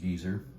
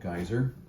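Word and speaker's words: Geysir: and the Geyer stamps in Iceland's pronounced Geyer not geyser g y we did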